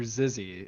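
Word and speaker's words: xyzzy: online site it's it's pretend you're zizzy and it's got like xy zzy it's spelled kind of funky but it's like online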